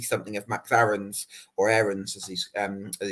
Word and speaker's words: Aarons: I think Farke might see something of Max Aarons, or Aarons as he's pronounced, in Cody Drama.